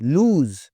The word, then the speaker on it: lose: आसमानी बिजली होती है, lose, खोना, इसमें Z की आवाज़ आ रही है, तवज्जो दीजिएगा, अगला लफ्ज़ भी आ रहा है, उसमें तो बहुत ध्यान रखने की ज़रूरत है।